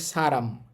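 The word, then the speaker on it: 사람: পড়েন এই শব্দটা দেখেন এই শব্দটার উচ্চারণ হবে কিন্তু সারাম সারাম ছ এর মতো ষ এর মতো না। অনেকে আবার স্ব এর মতো উচ্চারণ করে বাট সেটা ঠিক না।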